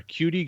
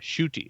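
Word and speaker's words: Ncuti: SHOO-TI is the pronunciation guide for it. SHOOTI. Shooty. Okay. So I still didn't pronounce the N. So it's not N cutie. So Shooty Gatwa.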